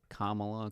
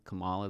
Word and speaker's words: Kamala: It's like Kamla, Camala. They're spelled the same way.